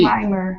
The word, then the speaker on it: climber: climber look it again look again climber yeah there's no be climber climber okay climber okay